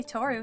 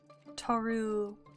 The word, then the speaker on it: Tohru: Toru, like this? My name has a random and unnecessary H in it, but yeah.